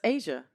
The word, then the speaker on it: Ashia: I think it's Asia. It's just spelled ASHIA. So it's Asia.